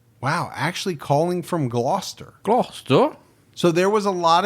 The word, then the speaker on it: Gloucester: Well, there was about whether or not we would pronounce Gloucester right. Glouester. Most people thought I would say Glauses Cheshshire. Glass, which is the way it looks.